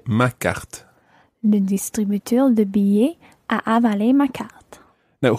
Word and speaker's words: billet: So the whole phrase would be, le distributeur de billets a avalé ma carte. Le distributeur de billets a avalé ma carte. Just watch billet. Billet. You don't actually pronounce an L sound in there.